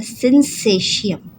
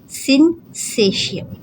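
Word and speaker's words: syncytium: इसका pronunciation correct पढ़ लीजिएगा। ये कहलाता है सिंसेशियम। सिंसेशियम। ठीक है? सिंक अलग, सेशियम अलग।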